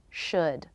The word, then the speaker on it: should: The L is silent. So they all have their beginning consonant, the as in book vowel, and the D sound. Should, would, could.